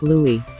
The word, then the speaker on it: Louis: his name is pronounced Louis just like The Little Prince of Cambridge or perhaps she's a